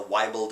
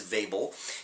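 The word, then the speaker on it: Weibull: is uh ethnically Swedish and his name is pronounced Vel but I certain I've heard this referred to as the wble distribution or the Weeble distribution but the right word is vable it is the vable distribution and you can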